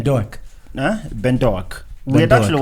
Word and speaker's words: Doak: Doak.